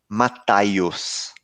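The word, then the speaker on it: Ματθαῖος: sabe do evangelista Mateus o seu nome em grego se pronuncia alguma coisa parecida com mathayus com th né mathayus Eu não sei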